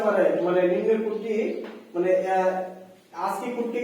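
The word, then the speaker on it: ASCII: এটাকে আমরা ঠিক আছে কিন্তু আমি আগে উচ্চারণ করি এস সি আই কিন্তু এটার প্রোনাউনস বলে আজকি এ এস কে ডবলই ঠিক আছে আমরা এটাকে বলি কিন্তু আজকি ঠিক আছে এখন এখন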